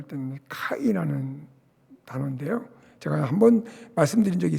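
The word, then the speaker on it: καί: 여러분, 여기서 그리고라고 하는 이 헬라어로 발음을 할 때는 카이라는 단어인데요.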